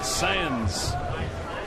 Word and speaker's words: Sáenz: He undefeated Gabri Gabino Sans S E S A E N Z. pronounce sen.